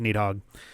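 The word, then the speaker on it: Nidhogg: And it turns out the English version is essentially just Nidhthog. Uh, the the Norse one is like or something like that.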